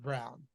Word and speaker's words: Braun: he first started playing I called him Christian Braun because that's what his name says and chat corrected at the brown and I was like